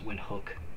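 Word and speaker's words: Windhoek: Serbia Tashkent Uzbekistan windhook that is how it's pronounced as windhook Namibia free Town Sierra Leone yaren nauru balita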